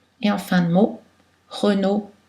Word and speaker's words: Renaud: de voyelles AU, et en fin de mot, Renaud, Thibault. Deux L sont prononcées L, habituellement, culturel, L, pâle, mais ILL